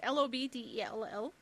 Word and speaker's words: Lobdell: But it is written by Scott, I do not know how to pronounce this, Lobdell? It's Lobdell.